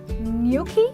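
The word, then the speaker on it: gnocchi: and then we have new key when the G is silent and there's an invisible why in the pronunciation there is awesome okay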